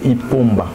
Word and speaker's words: Ipomba: Il faut prononcer Ipomba.